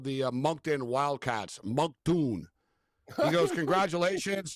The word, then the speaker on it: Moncton: As Tony Finau called the Moncton Wildcats, Moncton. He goes, congratulations to the Moncton Wildcats. And it's like, bro, it's Moncton. Like, so they should have told him, hey, Tony, by the way, it's Moncton.